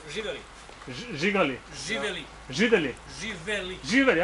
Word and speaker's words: živeli: We say živeli.